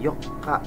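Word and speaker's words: 四日: nanoka tanggal 8 Yoka nah ini harus antara tanggal 4 sama tanggal 8 pelafalannya harus jelas kalau tanggal 4 tadi apa Yoka ya double K kalau tanggal 8 Yoka jadi panjang vokal o-nya Yoka tanggal 9 kokonoka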